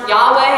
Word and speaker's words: Yahweh: most basic form it means to be it's pronounced Yahweh it means he is or he will be